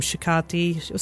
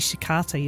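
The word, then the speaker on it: shiitake: Shicati. I say shicati, but it's actually shikati, isn't it? I could say it wrong.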